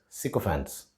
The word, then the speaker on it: sycophant: And we call people who indulge in such kind of behavior as sycophants. The American pronunciation is sycophant and sycophancy.